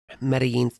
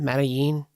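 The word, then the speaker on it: Medellín: Was that in Medí? Medline meal. Medí. I think it's Medí, but Metalin as well. Americans say Medilin.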